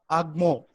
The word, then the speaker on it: OGMO: Sanjita KK, founder and entrepreneur at OGMO Foods, pronounced as Agmo.